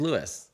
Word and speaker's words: Luis: It's an American version of Luis. Is Lewis.